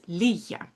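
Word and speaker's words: ligga: uh which uh is pronounced with a little bit less of a hard G.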